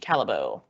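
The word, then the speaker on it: Callebaut: I realized it wasn't in the handout, but it's spelled Callebeaut, Calabo.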